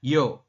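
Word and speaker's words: 여: Kemudian yang ini Yeo ya, membacanya Yo seperti itu.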